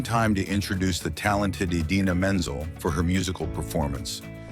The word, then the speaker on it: Idina Menzel: for her musical performance, John Travolta pronounced her name in a completely different and unusual way. The name John pronounced was Adele Dazeem, a completely made-up version of the actress and singer's real name.